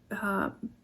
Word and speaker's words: bakuchiol: Bakuchiol, that's what it is.